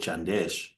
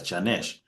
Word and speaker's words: Janesh: Because there's also um another one another lady called Chandesh. Um am I saying it right? or or Janesh. Uh yeah, it's Janesh because it sounds very similar to to Chandesh.